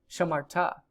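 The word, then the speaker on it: שָׁמַרְתְּ: And this you pronounce there's two, you know, shivas in a row at the end here. You just leave them both silent. It's just shamart.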